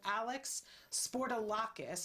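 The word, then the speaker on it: Alex Spourdalakis: the name of the film is who killed alex sportolakis did i say it right that's that's absolutely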